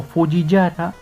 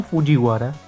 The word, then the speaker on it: Fujiwara: Después, el apellido de Takumi, que ya será pronunciado como Fujiwara o Fujiyara, ahora se retractaron y lo pronunciaron bien, como Fujiwara.